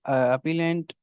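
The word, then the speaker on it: appellant: और अपील में कौन सी होंगी, अपील में होंगी अपीलेंट। अपीलांट जिसको बोलते हैं, प्रोनाउंसिएशन वो आपके ऊपर है, अपीलेंट या अपीलांट।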